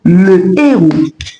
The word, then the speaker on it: héros: On dira tout simplement le héros. Le héros. Vous pouvez répéter avec moi le héros. Ne dites pas l'héros. Ça ne se dit pas en français, on dit le héros.